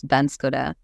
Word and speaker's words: Banskota: So it's also funny, Nepali, of course, we say Banskota, and then with the na, because of the Chandra here, it's Banskota.